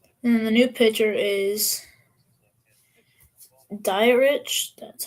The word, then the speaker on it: Dietrich: Oh, it's Dietrich ends, not diet rich.